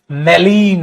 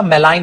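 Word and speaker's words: malign: Next बेटा मेलीन, मेलीन मतलब मेल, नर जर देखो मेलेवोलेंट, और इसी से क्या याद कर लिया, मेलाइन, मेलाइन, मेलिन नहीं बेटा, इसको ज्यादातर प्रोनाउंसिएशन ना मेलाइन होता है।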